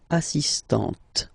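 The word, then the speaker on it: assistante: on the T assist so don't pronounce the final here but for the feminine form assistant okay assistant assistant all right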